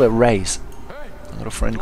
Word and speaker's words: Reyes: want to call it race i've got a friend called victoria reyes who it's well same spelling and you pronounce it raise but they pronounce it so i guess race it is anyway here